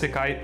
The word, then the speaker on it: isekai: Um, for all y'all there, this is how you say isai in Japanese. Isekai. Well, this is actually isekai.